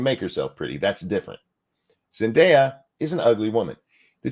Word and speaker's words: Zendaya: top corner here yeah you gotta say it like perfume Zendaya Zendaya that's an ugly